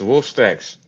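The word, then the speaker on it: Wolkstaks: It's uh it's it's Wolf Stacks. Just straight up Wolf Stacks. Yeah. And it's spelled incorrectly, by the way.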